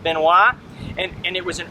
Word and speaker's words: Benoist: melissa benoist but it's been nice but it's pronounced benoit and and it was an early airman airplane